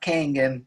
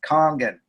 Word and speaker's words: Kangen: that or not but it's pronounced Kong in not Canyon its kangen course lady in the machine she says kangen water 9.5 she doesn't say King in water and I bought five